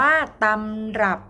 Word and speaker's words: ตำรับ: รับ ใช่ ไหม คะ แต่ เรา อ่าน ว่า ตำรับ เพราะ คำ เนี้ย มัน เป็น คำ ที่ ยืม มา จาก ภาษา เขมร จึง อ่าน ออก เสียง เหมือน มี หอ นำ เป็น คำ ที่ เหมือน มี หอก เป็น คำ อักษร นำ นะ คะ หอ รอ ออ